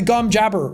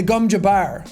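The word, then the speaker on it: gom jabbar: I got to hear how everything was pronounced properly. Like the gum, I kept calling it the gum jabber, which is the needle up to the neck. And it's the gum jabbar.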